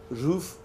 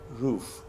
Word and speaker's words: roof: exactly I pronounce it Ruth but some people from the east they pronounce it rough both of them are correct Ruth are rough but most standard pronunciation is like roof so please repeat roof